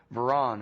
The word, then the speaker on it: Varon: In this case, it's Jeremy Varon. Am I saying it right? You're saying it right.